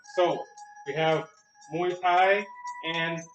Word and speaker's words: Muay: remember right now but correct pronunciation of thai boxing is a soft sound muay all right now